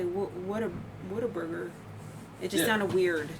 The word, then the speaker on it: Whataburger: Wait, how do you spell it? Because someone said. WHAT what dash a dash burger. Okay. What a burger. That's what I thought.